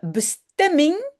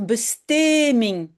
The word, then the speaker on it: bestemming: de bestemming. Oui, il faut de M sinon on doit dire besteming. D'accord. C'est la fameuse règle syllabe ouverte fermée.